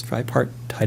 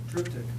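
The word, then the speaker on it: triptych: he painted himself this dry part tide if I'm pronouncing that right uh I know I'm not he he pronounced it differently sorry somebody said that what is it triptic that's right thank you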